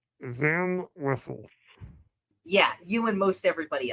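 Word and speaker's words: Zam Wesell: Zam Wessel. Yeah, you and most everybody else. And you're right. A few people have pronounced it Wizel.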